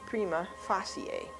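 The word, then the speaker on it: prima facie: the beginning now really the correct way to pronounce that in Latin is prima Fier and I don't know I think judges and lawyers say prima Facey and if it were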